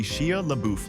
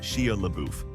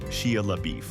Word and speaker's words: Shia LaBeouf: It was supposed to be a one-liner, but Steve couldn't stop giggling every time he said Shia LaBeouf. At one point, he pronounced it Shia LaBeef, which set the entire cast off.